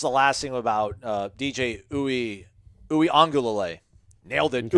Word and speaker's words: Uiagalelei: Just the last thing about DJ Uiagalelei. Nailed it. Okay. Uiagalelei.